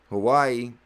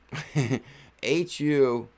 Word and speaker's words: Huawei: Hawaii, how do you pronounce that? HUAWEI and Deep Brain Chain, DBC, and Polygon jointly established the Metaverse and Web3 Alliance.